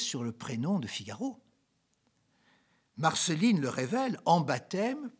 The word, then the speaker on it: Figaro: prend son père et comment prononce pas le s on dit le figaro donc le figaro c'est le figaro c'est